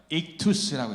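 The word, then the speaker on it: ἸΧΘΥΣ: 저 글씨만 따로 따서 뭐라고 읽냐면 익투스라고 읽어요.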